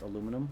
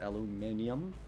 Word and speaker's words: aluminum: i say aluminium mice aluminum i mean it's pronounced aluminum but people pronounce it aluminium a lot but it's it's it's i pronounce